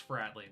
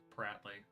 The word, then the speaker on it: Fratley: a common RPG Trope oh it's fratley not bratley I I don't remember